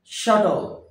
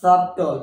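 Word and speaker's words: subtle: উচ্চারণ সান কি সউন সূর্যের সান তার মত উচ্চারণ হবে সান নট সটল নট সাবটল base total silent that is শ্যাটল নট সাবট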